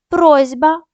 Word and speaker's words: просьба: як х вогкий нігті глухі приголосні перед дзвінкими вимовляють дзвінко вокзал просьба боротьба молотьба лічба Отже